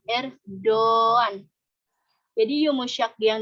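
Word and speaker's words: Erdoğan: tapi tidak dianggap gitu Jadi dibacanya bukan Erdogan Hai ikan er Doan jadi yumusak gini kayak kalau di dalam ilmu tajwid itu seperti Marco by untuk memanjangkan huruf sebelumnya kan kalau Mad Thobi'i Tuh kan ada Alif Wow adanya ya kalau alis gitu Untuk Yang berfathah kalau ya untuk yang berkasroh dan Wow untuk yang berdoa nah oh usah gitu juga gitu Jadi dibacanya er Doan gitu jadi untuk mancungin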